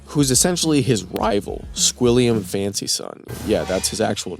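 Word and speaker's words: Fancyson: essentially his rival, Squilliam Fancy Son. Yeah, that's his actual name, Fancy Son. But it's it's one word, but it still doesn't take away from the fact that it's pronounced Fancy Son.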